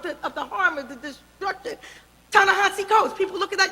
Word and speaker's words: Ta-Nehisi: Ta-Nehisi Coates. People look at that name. Oh, no, that's Ta-Nehisi. Well, no, it's pronounced Ta-Nehisi.